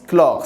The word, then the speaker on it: chlore: chlore ça se prononce clore ses ailes c'est pas ch donc il prend celle